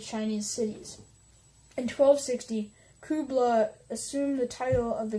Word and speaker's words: Kublai: forces were directed by Kublai Khan who I'm sorry I've been saying as Kubo lie it's actually Kubla so yeah as the